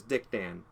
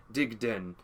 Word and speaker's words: Digden: They spelt it Digden, because in Arabic, in Syrian, and that's kind of more how it's pronounced. It's kind of got like a slur, like a d, as opposed to Dick Dan, which is like a very American form of it.